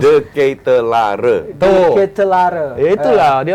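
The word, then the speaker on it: De Ketelaere: Coba Koci lu pronounce. De Ketelare.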